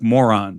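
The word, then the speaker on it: Mörön: It's spelled like moron, but it's called Moron.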